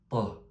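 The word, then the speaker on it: ط: Ici, la lettre ta c'est comme un t en français mais qu'on prononce de façon très très grave. Ça donne pas, ça donne taun.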